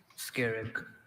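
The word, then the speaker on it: skerrick: Scarik.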